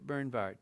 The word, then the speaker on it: Bernward: is this is Bishop bernward Bishop Bernard you say the W like a v in the Volkswagen so Bishop Bernard he